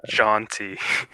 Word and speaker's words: Zhanthi: It's ZHANTHI. And it's pronounced Jonti.